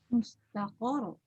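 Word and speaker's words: مُسْتَقَرٌّ: Mustaqor. Itu. Oh iya, waktunya bertasydid. Ya, maka bacanya begini. Likullina ba'in mustaqor. Nah, kalau Pak Kiai dia dihentakkan. Tapi kalau naber, memang naber ya. Ro bertasydid naber.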